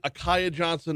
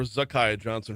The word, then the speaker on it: Zakaya Johnson: Uh, is it Akaya Johnson or Zakaya Johnson? Her name does start with a Z. Uh, a Z, I'm sorry. So, uh, are we pronouncing that? You heard it right there. Patrick Wright on the call for the LSU Sports Radio Network, uh, not pronouncing the Z.